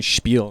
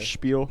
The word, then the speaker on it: Spiel: I've been saying Spiel in my head. Spiel. Yeah, I mean, it's pronounced either way.